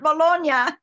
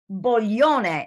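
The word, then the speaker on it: Boglione: I just say bologna it's not bologna sorry I used to live in bologna and I it is in my head it's it's uh pastel boyone it should be b-o-l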